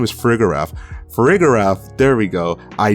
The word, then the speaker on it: Farigiraf: Its name is Farigiraf.